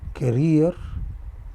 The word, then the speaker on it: career: So, for example, I said career. So, this vowel is stressed, so I put it.